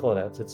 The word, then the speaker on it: Kolinec: It's pronounced Kolonet.